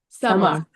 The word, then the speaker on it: Samar: Samar. Yeah, it is properly pronounced Samar, but it is it is a translation from a Turkish Arabic name. So, um it's pronounced summer like summer season or summer or summer.